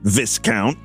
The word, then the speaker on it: Viscount: you pronounce that name it's literally discount but with a V apparently Susanna used to date Viscount that's how she was